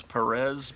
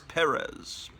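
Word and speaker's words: Pérez: And then they start the thing over again with George Perez, which I used to pronounce Perez, but I think I've been told that it's Perez.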